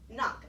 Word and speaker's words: knock: a little funny one it's got that silent K in it just like the word knob did when we did knob and I said this is knock do you remember what that silent letter was in knob well it's gonna be the same letter as a knock okay that letter is a cake just we don't hear it and then the next